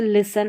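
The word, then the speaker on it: listen: जैसे एस टी एफ टी और बी टी में जैसे लिसन है। लिसन नहीं पढ़ते। टी इन सभी में साइलेंट है।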